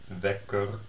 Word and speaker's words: wekker: that ERD, ELD, whatever, endings are all unemphasized. So you can hear that if you pronounce them sort of, or you hear me pronounce it, kussen, lepel, keuken, wekker. So they all sound like e, and this sounds like e, bed.